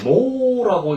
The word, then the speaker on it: 納: 근데 이제 여기서 제가 말씀드리고 싶은 건 이 납자라고 하는 것은 원래는 노라고 읽는 것이 정상입니다. 노하고 있는 노. 그래서 여러분 그 납입 같은 거 할 때 하면 노뉴 이렇게 있잖아요.